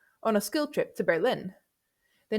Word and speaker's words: Berlin: For listening, I'd be more cautious, as German pronunciation puts the stress on the second syllable, Berlin und Paris, which might confuse beginner learners with English L1.